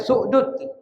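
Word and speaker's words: السؤدد: Bukan su'dat ya, ini bacanya su'dud. Salah itu. Su'dud bukan su'dat. Tapi as-su'dud.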